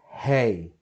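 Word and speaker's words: ה: So, letter hey. To remind you, the sound of hey is like when you say hey, hey you, how are you? Okay, keep that in mind.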